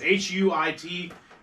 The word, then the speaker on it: huit: Zach, it's pronounced huit 4987. for 8. So yes, Huit is 8 in French.